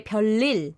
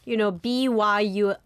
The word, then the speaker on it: 별일: Yeah, so it you kind of connect it, and you say 별일. 별일. So it kind of sounds like, BYULLIL.